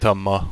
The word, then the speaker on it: Tomas: banter what a shame Tama we don't pronounce the S yes our twitch audience